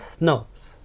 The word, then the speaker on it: snRNP: However, they are pronounced as SNRPs.